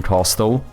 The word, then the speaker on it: castle: You you can basically build like a house moving castle. Castle. You don't pronounce the T in castle.